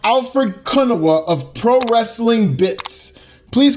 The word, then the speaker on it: Alfred Konuwa: Having said that, it's pronounced Alfred Kunawa of Pro Wrestling Bits.